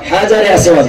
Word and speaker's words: হাজরে আসওয়াদ: হাজরে আসওয়াদ, ভালো করে উচ্চারণ, হাজরে আসওয়াদ সঠিক উত্তর।